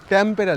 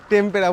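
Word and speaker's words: Tampara: একটু ভুল প্রোনাউন্সিয়েশন করছিলাম। ট্যাম্পেরা লেক। টেম্পেরা বলে দিচ্ছিলাম।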